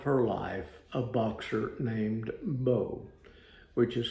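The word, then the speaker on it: Beau: the love of her life a boxer named Bo which is spelled be auau and that becomes significant in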